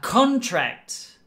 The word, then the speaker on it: contract: is a business agreement the accent is on the first part a contract so a contract contract or a contract that's the noun and the verb to to contract okay so difference in pronunciation means a different meaning in a different form okay next one 28